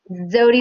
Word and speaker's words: Zewde: us by the way how do you say your last name is it zood or zoom zodie like zodiac without that cool i've been saying